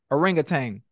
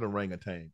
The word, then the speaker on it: orangutan: g t n g orangutang see that's why I told you it's not an oranga tank it's an orangutan so ain't no G